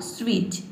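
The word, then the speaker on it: switch: एक साथ आया है यहां पे भी टी लेटर क्या है साइलेंट है ये हो जाएगा आपका स्विच स्विंग स्व और आई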